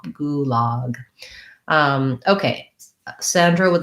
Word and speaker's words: gulag: a local pronunciation and then gulag has a tense ooh and the relax and the open ah gulag um okay sandra would